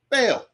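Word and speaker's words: Ba'al: And it's spelled B-A apostrophe A-L. Bail.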